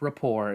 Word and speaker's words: rapport: you need to establish rapport yes it is pronounced Rapport if you haven't heard by this point um